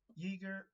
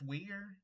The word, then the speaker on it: Uyghur: Very weird that you're friends with a person who denies the Uyghur, I think it's Uyghur, that's how you pronounce it, genocide in China, and then she's also friends with the same person that calls black people the blacks.